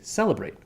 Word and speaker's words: celebrate: have the word celebrate celebrate has stress on the first syllable we say celebrate we don't say celebrate